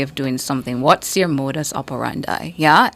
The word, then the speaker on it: modus operandi: the day sure one you're all familiar with it's spelled m o d u s o p e r a n d i spelled m o d u s o p e r a n d i modus operandi modus operandi modus operandi that's a